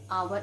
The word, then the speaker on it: hour: begin with the children edge and where it is silent okay yeah then i met a i met him an hour ago we never say i met him and